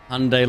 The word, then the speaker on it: Hyundai: There was even a TV commercial that said it's Hyundai like Sunday.